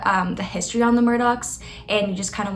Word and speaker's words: Murdaugh: started is that Murdoch looks like it should be pronounced Murda but it's not it is Murdoch and to make things